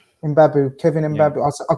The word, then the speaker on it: Mbabu: Mbabu, Kevin Mbabu.